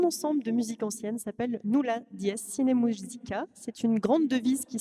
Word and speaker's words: Nulla Dies Sine Musica: au risque de d'écorcher le nom de ta formation musicale, je vais te laisser la prononcer toi-même. Alors, mon ensemble de musique ancienne s'appelle Nulla Dies Sine Musica.